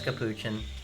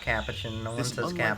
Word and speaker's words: capuchin: monkeys are not right it's capuchin not capuchin alliance was forged to